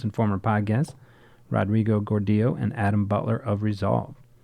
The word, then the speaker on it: Gordillo: all right welcome guys we're here with Rodrigo Gordo which after 10 years years or so I can finally pronounce correctly uh you can go back and